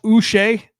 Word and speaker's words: Uche: subtraction for Jacksonville Josh us I looked that up by the way that's how you say it Josh us for a